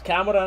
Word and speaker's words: Kamara: We should pronounce it right. It's Kamara in it.